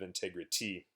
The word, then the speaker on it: integrity: say integrity instead of integrity but the important point there too is that the stress is on the tag integ integrity integrity so